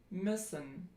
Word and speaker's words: müssen: German example would be müssen, müssen. And that is pronounced if you just take I and then you round your lips. I, Ö, müssen.